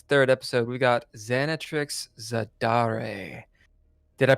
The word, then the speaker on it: Xanatrix Zadare: ] today it's the third episode we got xanat Trix zadar did I pronounce that right xanx you did and if